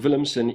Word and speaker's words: Willumsen: So this is a Mikkel Willumsen design, and I'm assuming the W on Willumsen is pronounced with a V because he's out of Denmark, based in Copenhagen, Denmark.